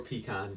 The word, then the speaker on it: pecan: Not a pecan pie. Or pecan, depending on how you say it.